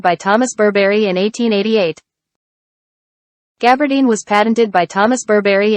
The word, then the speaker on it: gabardine: 이 부분 발음이 좀 어려워서요. 한번 영어로 한번 들어보도록 하겠습니다. Gabardine was patented by Thomas Burberry in 1888. Gabardine was patented by Thomas Burberry in 1888.